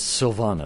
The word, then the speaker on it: Silvana: support they need and it's Silvana is the right pronunciation of your name yes it is thank you very nice